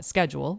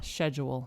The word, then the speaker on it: schedule: more apt to like the american way to pronounce it would be uh schedule yeah and it gets more british to say yeah schedule schedule is more british oh well so there